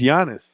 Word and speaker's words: Giannis: You pronounce everything phonetically when it's not supposed to be. It's a Greek name. It's Giannis. Giannis.